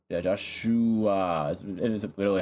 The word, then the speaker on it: Joshhhuaaa: Joshua. Yeah, Joshua. It is literally how you pronounce it.